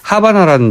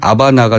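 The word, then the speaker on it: Habana: 활동 많이 안 합니다만 하바나라는 영화가 있었습니다. 예. 원래 그 발음은 아바나가 되겠습니다만 예. 우리나라 그 극장에서는 하바나로 걸렸죠. 영어도 하바나가 그렇죠. H가 맞죠? 들어가니까요.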